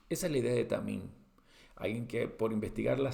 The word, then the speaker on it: tamim: se traduce acá como perfecto, es la palabra tamim. Vamos a anotarlo, tamim. Pronunciación así con un resalto la pronunciación para que ustedes puedan darse cuenta que es T-A-M y M, ¿sí?